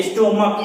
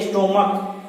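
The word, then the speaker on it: stomach: अब यहाँ पे हम देख रहे हैं कि CH का उच्चारण च न होकर के क हो रहा है। स्टोमक क बोलते हैं हम लोग।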